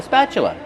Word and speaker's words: spatula: Use a short a sound like black cat. Spa plus the ch- sound like chicken. That's right. The t is pronounced with the chch sound. spat. Spatula. Then use the closed sound uh like cup and up.